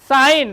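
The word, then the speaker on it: sign: कुटकी कह रहा है देखो यहां साइन देखो क्या है साइन अब यहां पर जी क्या है साइलेंट है तो साइन माने चिन्ह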